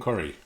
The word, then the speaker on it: Kuhre: Um also you can Blake Curry like the basketball player. Yeah, pronounced like the basketball player. Not spelled that way.